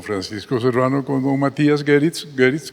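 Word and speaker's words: Goeritz: Lo iba a dirigir don Francisco Serrano con don Matías Geritz, que es un alemán, se pronuncia Geritz, ¿sí?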